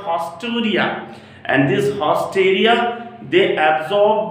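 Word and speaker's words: haustoria: Through a special structure called hosteria. If you can't see, I will pronounce it hausteria.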